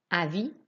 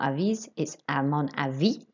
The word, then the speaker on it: avis: so it's len good avi do not pronounce the s at the end it's not avis h mixer shh sound